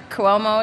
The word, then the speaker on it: Cuomo: Also to the governor, Cuomo is how I think you pronounce it, right?